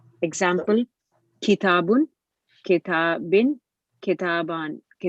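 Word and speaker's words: كتابا: the accusat accusative case takes an alif which is not pronounced example kitabun keta bin kitaban correct so what happens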